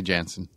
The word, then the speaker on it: Janssen: Well, Famke Janssen is pronounced actually Janssen where her her native country. In America, it's mostly Janssen. So, both are right.